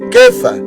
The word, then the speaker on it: Kefa: Cefas, para nosotros, hermanitos, así se pronuncia Cefas, en hebreo Kefa, y empieza con K.